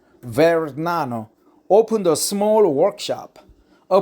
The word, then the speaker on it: Vergnano: pronunciation is very Nano ver Nano almost g is silent very Nano opened a small Workshop